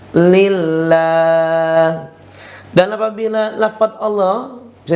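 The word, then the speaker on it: لله: kedua ini ya fabilillah lafaz Allah diduli kasrah bacanya lillah lillah tidak boleh ditebalkan huruf lamnya ya Jangan dibaca lillah lillah lillah ya seperti itu tapi lamnya tipis lillah dan apabila lafaz Allah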